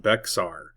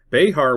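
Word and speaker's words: Bexar: It is not pronounced Beexar. Behar was probably how it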